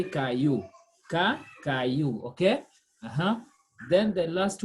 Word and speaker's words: caillou: voice i double l o u is pronounced as as y and y is as e so we say caillou okay uh-huh then the